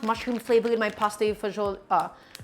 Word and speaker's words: fagioli: I don't want mushroom flavor in my pasta fagioli. I almost said it the American Italian way, right? Fagioli. Not the other pronunciation.